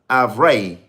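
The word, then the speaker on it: ivraie: In the French word for Darnell is avray. I believe I'm pronouncing it right, but it's avray.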